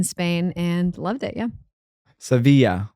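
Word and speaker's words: Sevilla: then I went to seevilla in Spain and loved it yeah seevilla seevilla do do some people pronounce it as sevil they do yeah okay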